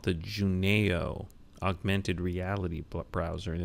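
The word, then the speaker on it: junaio: I've come across recently is something called the Juno augmented reality browser and it's free that's spelled j u n a i o and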